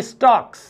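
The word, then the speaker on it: stalk: तो कह रहा है ही स्टॉक्स, स्टॉक एल साइलेंट है, ही स्टॉक्स इन हिज विविध स्ट्राइप्स।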